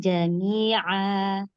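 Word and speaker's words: جميعا: Kata buka lagi. Jami'a. Bacanya buka lagi.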